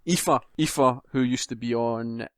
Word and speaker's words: Aoife: It looks like Alfie. Aoife, who used to be on Official Xbox magazine.